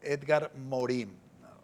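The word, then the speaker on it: Edgar Morin: Edgar, Edgar Morim. Pronunciamos a veces en francés porque en en el ámbito académico se exige pronunciarlo en en su idioma.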